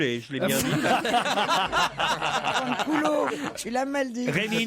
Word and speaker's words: Fanculo: Oui, et va fancoule, je l'ai bien dit. Fanculo, tu l'as mal dit.